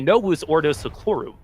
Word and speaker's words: Novus Ordo Seclorum: The V would be pronounced with the W. Is how that would work. So it would be Novus Ordo Seclorum.